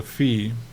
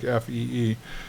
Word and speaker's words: phi: before this little guy here is called a fee f it's phi but it's pronounced like fe E.